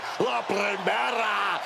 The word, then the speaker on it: La Primera: La Primera, Stephanie McCare. You need to roll your R's a little bit on that, man. La Primera.